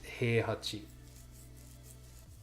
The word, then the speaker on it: Heihachi: It's Kazuya and it's Heihachi.